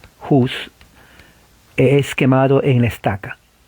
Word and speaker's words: Hus: en inglés es H, la H se pronuncia como una J, no, la H se pronuncia una J, Hus, es quemado en la estaca.